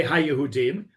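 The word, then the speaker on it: היהודים: When you're reading that, you would say HaYehudim.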